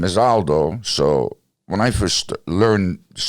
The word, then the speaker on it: Aldo: And to this day, it's actually hard to pronounce because it's Aldo. Because the A is A. Aldo.